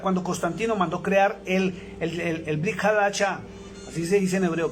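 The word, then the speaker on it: ברית חדשה: Y sobre todo, desde el año 350, cuando Constantino mandó crear el Brit Hadashah, así se dice en hebreo, Brit Hadashah, que es el Nuevo Testamento, que realmente es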